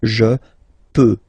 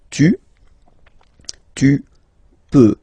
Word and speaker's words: peux: Okay, final X not pronounced here. Okay, so you get X but you don't pronounce it. So basically you get the sound peut, je peux. Okay, so I can, je peux. Okay, then tu peux. Same pronunciation and same spelling or writing. Okay, P-E-U-X. Okay, you don't pronounce the final X.